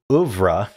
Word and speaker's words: oeuvre: Okay, so oeuvre is the works of a painter, composer, or author regarded collectively.